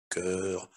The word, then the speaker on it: chœur: Но нужно помнить, что есть слова, в которых буквосочетание СХ произносится как звук К. Как правило, это слова греческого происхождения. Eh bien, lisons-les и давайте прочитаем их. Acronisme, archéologie, chaos, chorale, chronique, chœur, mélancolie, orchestre, polytechnique, synchronie,